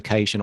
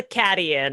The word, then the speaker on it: Caitian: I love that you say it properly, and I'm like, nah, that's a Cadian, and it will always be a Cadian.